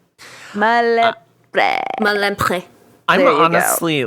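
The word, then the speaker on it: Malempré: And then Philippe Malapre. Malempre.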